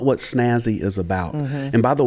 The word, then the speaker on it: SNASY: Well, everybody wants to add an extra S in there when you just say Snazzy. But it stands for Special Needs Assistance Station for You. The for is silent.